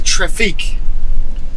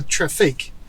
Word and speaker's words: Trafic: the traffic and yes i am putting a weird french kind of accent on the end of that spell traffic t-r-a-f-i-c so i don't know if they really call it a traffic but it's french so it sounds good this is the mid-size